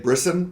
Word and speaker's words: Brisson: it's purely written by and brisson rhymes with Kissin and art by Flavio